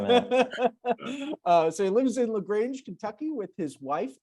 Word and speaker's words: LaGrange: LaGrange? LaGrange, yeah. LaGrange. Ooh, I was right. Yeah. You should have doubted yourself. You should not have doubted yourself 1 minute. So he lives in LaGrange, Kentucky with his wife, 2 daughters, and 3 dogs.